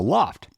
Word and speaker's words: L0pht: classic hacker group called The Loft and that is spelled l0 PHT as only hackers would to and he wrote